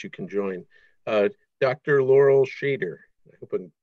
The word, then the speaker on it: Shader: Laurel Shader, I hope I'm pronouncing your last name right. Yeah, you got it right. Thanks, everyone. My name is Laurel Shader.